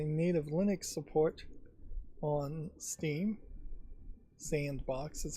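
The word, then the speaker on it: s&box: Sandbox is how you're supposed to pronounce that.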